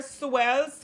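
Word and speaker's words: Suell: you guys to do so that's how it spell it's so it's they're supposed to be an s there swells kitchen that's it it's s-u-e-l-l please go over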